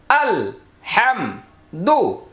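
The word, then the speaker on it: الحمد: যথাযথ না করতে পারেন মাথাটা এভাবে ঘুরাবেন আল হামদু এইভাবে ভেঙ্গে ভেঙ্গে আলাদা আলাদা আপনি যতটা পাতলা করবেন যতটা চেষ্টা করবেন ততটাই সফল হবেন দেখেন আল হামদু অথবা আল হামদু এভাবে ঘুরে ঘুরে ঘুরে ঘুরে আলাদা করে ফেলেন যাতে করে আলহামদু যেন না হয়।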